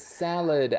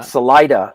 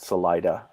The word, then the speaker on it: Salida: right because i said salad ah yeah so it's spanish for exit salida but um salida is how the locals pronounce it salida it's if you took